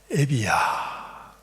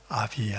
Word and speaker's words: 아비야: 지난 주간에는 우리가 에비야, 우리 어르신들이 부를 때 에비야 그렇게 부르잖아요. 그것처럼이 르호보암의 아들 솔로몬의 손자 이름이 뭐라고요? 에비야. 성경의 발음으로 얘기하면 아비야.